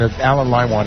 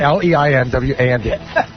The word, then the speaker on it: Leinwand: By the way, Alan Limewand is our new general sales manager. Alan Limewand? Limewand? Leinwand. Now we know why you mean. Mine want what? Spell that? Leinwand.